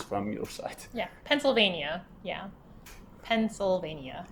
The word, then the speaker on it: Pennsylvania: new YK site yeah Pennsylvania yeah Pennsylvania it's like a pencil and then a vein and then uh Pennsylvania okay perfect so the